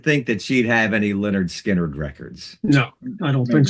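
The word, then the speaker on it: Lynyrd Skynyrd: You know, mispronouncing of words like, say, like Linrid Skinrid.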